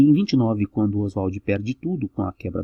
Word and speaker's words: Oswald: Oswald, tá? Ele pedia que fosse pronunciado assim, porque isso lembrava a brasilidade dele, Oswald.